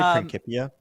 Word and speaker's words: Principia: I say Prancipia. Oh, is it Prancipia? I don't know. You're the man of letters. It's a soft C.